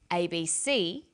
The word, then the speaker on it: ABC: Notice that each letter in the abbreviation is pronounced separately, but the last letter is pronounced more strongly because it carries the primary stress. So we say USA, ASAP, ABC, and TV.